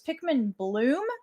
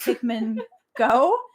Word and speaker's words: Pikmin Bloom: nice um I also want to clarify it's Pikmin Bloom not Pikman go my brother was very upset when I mispronounced the Pikmin app yeah one thing you